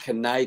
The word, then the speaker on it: Kenai: Where did Kenai King come from, and what does it mean? All right, good question. So you pronounced it wrong. Yeah, so it's actually a Kenai king.